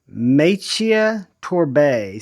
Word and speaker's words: Maciej Torbé: name, but I'm going to do my best, Maciej Torbé, spelled M-A-C-I-E-J. Torbé is spelled T-O-R-B-E.